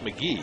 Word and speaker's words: McGahee: It's McGahee, right? It's pronounced McGee. McGee, but yeah. But it's spelled McGahee.